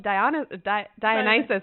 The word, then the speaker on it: Dionysus: So when I was reading the books, I thought it was Dionysus. Oh, wow. And so I'd pronounce it that way in my head. And then BTS came out with a song, but in Korea they pronounce it Dionysus. So then I was like, oh, it's Dionysus.